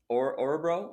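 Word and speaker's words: Örebro: your um, first season with the new club, I believe it's Orebro. Is that how you pronounce it? Yeah, that is.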